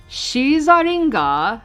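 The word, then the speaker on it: シザリガー: Shizaringa, yeah, that's how it's pronounced, is known as the rogue Pokemon.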